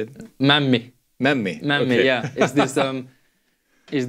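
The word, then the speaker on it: mämmi: Before we leave the food, the last two food-related questions are: what do you think of memma? Memma, is that how you say it? Memmi.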